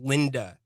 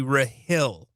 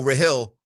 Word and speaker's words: Rahill: I didn't want you to think it was Linda. It's actually Raill. Raill in DC. That's my bad. Well, okay. It says Linda on my screen. So, Raill. Okay. So, Rahill, I apologize for getting your name wrong.